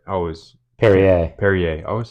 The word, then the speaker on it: Perrier: I can't really say much because the only thing I've had was that Pierre, right? I always Perrier. Perrier.